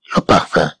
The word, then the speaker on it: parfum: إذا كما تلاحظوا بأن كلمة parfum comprend aussi le son 1 mais qui s'écrit avec UM à la fin des mots.